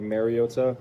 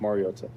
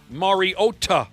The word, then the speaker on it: Mariota: And it's pronounced Mariota. Mariota. Yeah. All right. Thanks. Be mindful of all that. It's Jasper Volstead, not Jesper Walstead. And it's Marcus Mariota with a hard T.